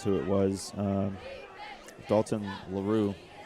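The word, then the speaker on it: Laroux: Um Dalton Laroo or Laro, however they want to pronounce that. L A R O U X Laru.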